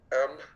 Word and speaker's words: Mnemon: MNEMON. So Mike November Echo Mike Oscar November. That helps. Okay. It's pronounced mnemon, like mnemonic, like the device to remember things.